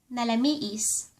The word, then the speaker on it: nalamiis: ruar (pronounced ru-war) ruar = outside Fourth one ----- the opposite of napudot is ----- nalamiis. Nalamiis.